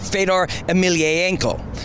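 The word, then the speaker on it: Fedor Emelianenko: i mean you don't get any bigger than fedor emilianenko actually we learned his proper pronunciation last night from my friend josh it's fedor emilienko so i think we can at least get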